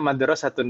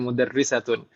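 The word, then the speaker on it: مَدْرَسَة: Di sana yakin Om ya bacanya madrasatun bukan mudarrisatun. Karena ini konteksnya perbandingannya dengan masjid kan Om ya? Masjid ya. ya. Masa itu orang bingung membedakan antara masjid dan bu guru kan nggak mungkin Om ya.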